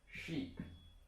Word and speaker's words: sheep: And for this one, you could pronounce like sheep, which means 绵羊, sheep. Sheep. And then there would be ship, which means 船. And actually, a lot of people confuse the two and can't differentiate since the pronunciation is a